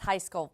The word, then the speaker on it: Heiskell: And before we start, I want to make sure, is that Heiskell? Is that how you pronounce it? Yes, Heiskell.